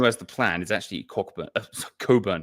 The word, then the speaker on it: Cockburn: And the man who has the plan is actually Coburn. He spells his name Cockburn. It's pronounced Coburn. I double checked this. Admiral Coburn.